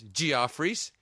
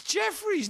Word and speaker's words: Jefferies: And she goes, Geoffrey's. And I'm like, no! It's Jefferies. No one's ever pronounced that Geoffrey, you fucking...